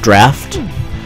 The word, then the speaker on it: draught: Like, for example, the word D-R-A-U-G-H-T is supposed to be pronounced draft, but I'll probably, like, when I read it, the pronunciation I hear in my head is always draught.